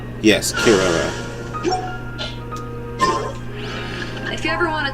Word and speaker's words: Kirara: want to say it wrong how do you pronounce it Kirara yes Kara if you ever want to trade tactic okay